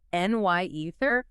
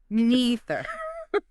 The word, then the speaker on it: neither: You can say NY ether or neither. Both are fine.